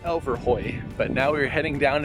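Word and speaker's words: Elverhøj: Museum and I learned today that it is pronounced Elver Hoy but now we're heading down into town to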